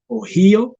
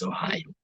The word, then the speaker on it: Ohio: I think we used to pronounce it as Ohio. Yes, I think Ohio. So not until ngomaze okukikwata obulungi n'okukitegeera n'olyoka omanya nti the state is called Ohio. The pronunciation is Ohio.